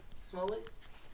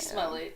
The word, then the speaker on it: Smollett: Smollett? So like mullet with an S?